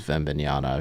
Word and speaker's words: Wembanyama: Chris, the French pronunciation is Wembanyama.